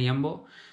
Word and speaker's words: Jumbo: So let's see the price of milk in Jumbo first. J is pronounced as Ye in Dutch.